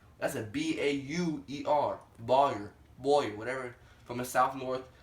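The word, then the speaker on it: Bauer: John Boyer. That's a B-A-U-E-R. Boyer, whatever. From the South North. I pronounce it like that, so it's like that.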